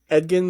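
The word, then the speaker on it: Edgin: was it Ed edin and Edan The Bard but it spelled like edin so on Twitter was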